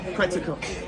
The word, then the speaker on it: Quetzalcoatl: And, Now you have to pronounce this one for me, John. Quetzalcoatl, There we go.